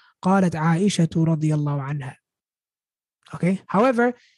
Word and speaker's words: عائشة: So if we were to say the word Aisha in a sentence and not stop on it, we would say قالت عائشة رضي الله عنها. قالت عائشة رضي الله عنها. We say two at the end.